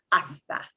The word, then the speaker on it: hasta: begins with nh so even though it's spelled with an h don't pronounce the h it's just hasta hasta uh okay this